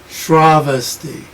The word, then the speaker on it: Shravasti: see it's just and it's very hard for an english speaker to not puts stress in and because english is so influenced by latin you get on the next the last syllable called the penultimate the next to last sravasti and a dummy like me because the shraw is long i want to say shravasti rather than travesty travesty you have to